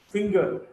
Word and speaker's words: finger: In case of whole words, finger, G is pronounced.